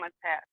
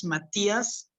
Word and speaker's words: Matias: First of all, my name, it's Matias. The I actually sounds like an E in Spanish most of the times.